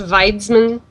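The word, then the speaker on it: Wiedźmin: i cannot speak it i'm pretty sure in their language it's pronounced weidzmann but it's to us it's witcher okay um i love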